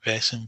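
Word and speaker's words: Vaesen: the New Year Von is that how you pronounce it vason V yeah which I'm quite looking forward to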